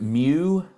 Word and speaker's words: mu: size n we would have the population mean mu which is uh we pronounce it mu uh it's it's a Greek letter mu uh